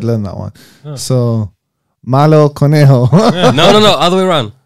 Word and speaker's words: malo: so bad was it Melo? No, malo. Malo, exactly. I don't know how to say bunny in Spanish. But Conejo. Conejo. I actually did learn that one. Oh. So Malo Conejo.